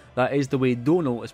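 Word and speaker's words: Domhnall: that is the way Donal is pronounced it's like tonal but with a d sadly small set would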